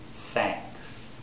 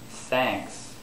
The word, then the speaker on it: thanks: Sanks. Sanks. Is that correct? That's wrong. Thanks is the correct way to pronounce it.